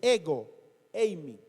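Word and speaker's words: ἐγώ εἰμι: palabra yo soy es ego eimi. Ego eimi. Así como suena, ego. G de gato, O, ego.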